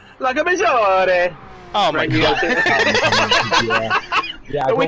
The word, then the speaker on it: Lago Maggiore: I always mispronounce the name. Lago Major. Major. Major. If you hold your 4 fingers together, you say Lago Maggiore.